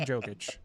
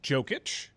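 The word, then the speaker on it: Jokić: saying his name wrong is it yogic or joking is it I did it wrong first it's like yogging with a soft J but Mike will really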